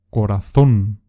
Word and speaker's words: corazón: Corazón es una palabra aguda porque la sílaba más fuerte es la última.